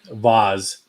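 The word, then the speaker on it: Vase: center in tanning recently what are they called vaz it's spelled v-a-s-e but it's pronounced laws um they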